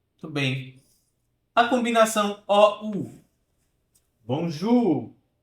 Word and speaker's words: bonjour: Bonjour. É o som da letra U, da nossa letra U, né?